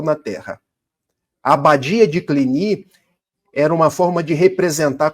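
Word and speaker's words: Cluny: fundam a abadia de, em português se escreve cluni, mas em francês clini, porque é uma palavra francesa.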